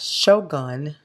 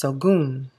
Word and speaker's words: Shogun: My friend Lau from Ketchian's Crafts, he left a comment on my video and he said it's not Shogun, it's Sogun.